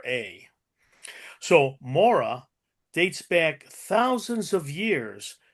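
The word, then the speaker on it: morra: called MOA and for those of you interested it's spelled m o r r a so Mora dates back thousands of years to ancient Roman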